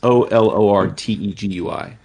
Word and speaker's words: Olortegui: Olortegui. Olortegui. It's Olortegui.